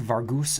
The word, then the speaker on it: Vargas: Vargas wrath cool Pirates it's it's pronounced Vargus R and we got